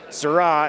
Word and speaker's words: Saras: So, next one we got going on is designed by Darren Saras. Sarah is how you pronounce his name.